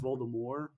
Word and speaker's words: Voldemort: it's like that but did you know it's supposed to be pronounced voldemort yeah but french i don't give a crap voldemort so maybe it's like